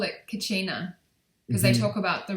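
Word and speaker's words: Kachina: I think they call it Kacina cuz they talk about the return of I'm probably not saying it right. Kacina, the blue star prophecy.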